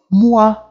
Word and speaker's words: moi: E aqui a gente vai ler como wa, ok? A pronúncia aqui vai ter o som de wa. Como, por exemplo, moi, bonsoir, moi, bonsoir.